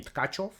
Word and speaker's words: Tkachiev: Festival between vladislav kachev in Russian we pronounce his name katov against legendary vikor K